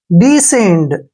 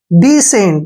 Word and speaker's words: descend: Next word DESCEND, देखिए DE का उच्चारण क्या करेंगे? डी, ऐसे डी, और SC जो है हमने इकट्ठा पढ़ना है, से पढ़ेंगे इसका, ठीक है, से। ई का उच्चारण एक ही मात्रा है, N को आधा नया, और D को डे पढ़ेंगे।